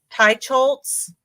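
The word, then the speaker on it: Teicholz: a healthy diet by Nina how do you pronounce her name Tai chz Tai chols okay and so it's this one it looks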